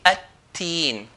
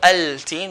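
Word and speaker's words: التين: So ta here will be at-teen. At-teen, not al-teen. We're not going to pronounce the lam.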